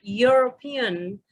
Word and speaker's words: European: The word European starts with y sound.